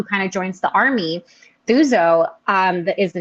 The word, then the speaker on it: Thuso: not her no not uzo suzo her name's suzo oh this is okay I'll look it up